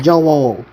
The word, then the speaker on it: Joel: You can literally say it with one syllable. Joel.